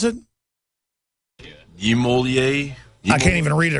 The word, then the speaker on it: Niemöller: How do you pronounce it? Niemöller.